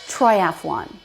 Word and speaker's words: triathlon: But it's not 4 syllables, it's 3. Triathlon.